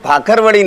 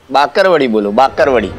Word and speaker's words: Bakarwadi: Not 'Bhakharwadi'. It's 'Bakarwadi'. 'Ba..'